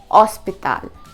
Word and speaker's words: hospital: is hospital in Spanish ospital osal so the example is the hospital is near to my house how do we say that in Spanish so the hospital will be l Hospital H is silent l hospital is will